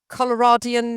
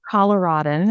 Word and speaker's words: Coloradan: Are you a Coloradian native? Is that the right way to say it? Coloradan is what we say.